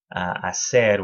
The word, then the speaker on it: hacer: Hacer with that soft C sound.